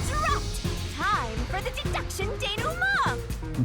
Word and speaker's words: denouement: Time for the deduction denouement! Denouement. Okay, that's how it's pronounced.